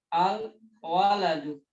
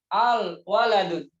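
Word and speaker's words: الولد: Tapi nggak boleh ini berkumpul al dan tanwin, al-waladun. Ini salah. Ya, nggak boleh.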